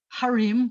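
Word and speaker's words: הָרִים: If I have harim, which are mountains, then I say he harim, because it's a ha with a kamatz under it. It's not the accented syllable, so I have to do a he.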